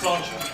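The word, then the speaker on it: sláinte: Okay, so it's spelled S-L-A-I-N-T-E. You'll see it written down, but it's pronounced as though it's got a C-H in it, so it's pronounced slauncher.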